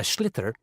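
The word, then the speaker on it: sliotar: And basically, you have to get this ball called a schlither.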